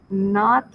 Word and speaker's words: naught: the original a naught we pronounce that as not um i'm not sure the spelling but it sounds like not okay it's an english